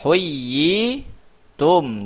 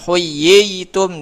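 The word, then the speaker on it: حُيِّيتُم: Ah huyyi tum dibacanya huyyitum bukan huyitum. Di sini kan ada ya dua nih.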